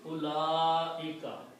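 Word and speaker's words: أولئك: So, ulaika, one thing you should notice that this little circle on waw, we should not read the waw. That means this waw is silent. So it's ulaika.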